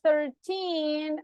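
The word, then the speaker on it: thirteen: have 11 How can I say this number pronunciation 12 12 that's good now from the 13 until the 19 remember that the stress goes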